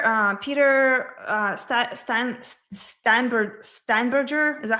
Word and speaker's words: Steinberger: So this week was very um Peter uh Peter uh Stan Steinber Steinberger is that how you pronounce his name? Steinberger. Yeah Steinberger.